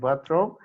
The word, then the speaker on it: wardrobe: But closet and wardrobe. So I mean the stress is on the first syllable.